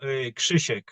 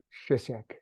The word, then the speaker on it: Chek: your name properly oh Chek Chek so it's it's more CH in English chisek it's like it's like almost silent k first yeah Shish Shish Shish yeah there you go nice Shish wow beautiful